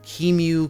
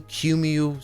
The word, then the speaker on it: QEMU: of utilities called uh how do you pronounce it i don't know keemu qmu something q e m u utils however you want to pronounce it i say kemu and once we do